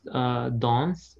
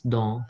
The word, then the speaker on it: dans: We won't pronounce dons or it's don. No. We will not pronounce. We can say don because S would be silent at the end.